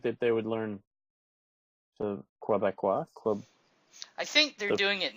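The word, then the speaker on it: Québécois: Quebecies? That's right, Quebecois.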